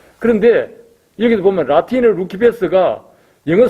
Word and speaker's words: Lucifer: 그런데 여기를 보면 라틴을 루키패스가 영어 스펠링으로 보면 똑같아요 luciferr 그걸 라틴으로 읽으면 루키 패스예요 그런데 영어로 읽으면 루시퍼가 되는 거예요 이게 이제 희한한 거죠